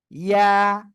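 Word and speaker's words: ي: ইয়া, কি অক্ষর? ইয়া, ইয়া, ঠিক আছে। ওকে, আমার মনে হয় আপনারা বুঝতে পেরেছেন। ইয়া, জিহ্বার মাঝখান উপরে তালুর সাথে লাগিয়েই এরকম লাগানো অবস্থায় ছেড়ে দিতে হবে, উচ্চারণ যা হয় হোক।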